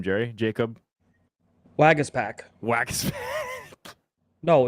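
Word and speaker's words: Waguespack: don't know who it is um what hey pronounce that guy's name Jerry Jacob wagas pack wagas pack no it's that's his name wagas pack it's still funny name or not it's a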